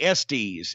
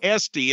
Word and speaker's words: Estes: It's not Rodney Estes. Which rhymes with testes, which stands for balls. And we know Rodney has none of those. No, ladies and gentlemen, it's Rodney Esty. It's not plural.